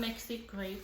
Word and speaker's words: MexiCrate: That's how you pronounce it. It's from MexiCrate.